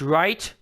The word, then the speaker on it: Wright: Look at that. White. It's okay. It's pronounced right.